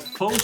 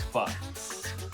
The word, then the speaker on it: pho: It's cocktails and pho, or faux, however you want to say it, but technically I think it's pronounced pho.